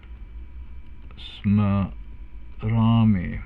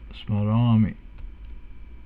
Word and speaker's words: smarami: So smarami, a long A there, smarami.